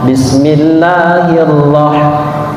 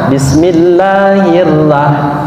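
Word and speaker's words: بسم الله الرحمن الرحيم: roh tebal atau kafein maka sebutannya ataupun pengucapannya harus tebal Bismillah hirohman Bismillahirrohmanirrohim ya Jadi tidak boleh dibaca Bismillahirohmanirohim bismillahirohmanirohim much Oh ini adalah huruf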